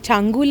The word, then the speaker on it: Changu: And at the Changu Lake, am I pronouncing it right?